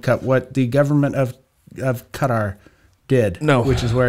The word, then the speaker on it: Qatar: Oh, Qatar. They banned, it's pronounced Qatar.